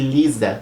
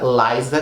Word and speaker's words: Liza: gravou essa música porque as pessoas não pronunciavam o nome dela certa as pessoas têm que pronunciavam o nome da Laila de Lisa com s e ela enfatizou na música que o nome dela era Laisa com z Então as a música